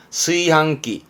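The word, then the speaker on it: 炊飯器: 요렇게 쓰면 뒷글자는 밥 반자라 취반이라 발음은 스이항. 즉 밥을 짓는다는 뜻입니다. 그래서 이렇게 쓰면 취반기입니다. 스이항기.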